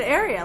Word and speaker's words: Arya: And then Arya. I think ever since Game of Thrones came out, there's that Arya character. Now everybody could kind of pronounce it. You said area, like an area rug.